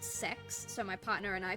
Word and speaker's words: CeX: it's spelled CeX like it's spelled uh kex but they swear up and down that it's pronounced sex so my partner and